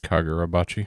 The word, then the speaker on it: Kagurabachi: Kagurabachi. How do you say this? Kagurabachi.